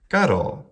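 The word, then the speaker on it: caro: One that comes to mind is Garo. This means meat or flesh. Short, long. Garo.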